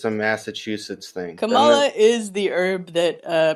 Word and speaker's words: Kamala: kamala in in uh south asian names tend to put the emphasis on the first syllable so yeah i like because it sounds like sounds like it's a massachusetts thing kamala is the herb that